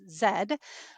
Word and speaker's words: Z: It was called The Block N Z N Z, but it's New Zealand and so they pronounce Z's as zed.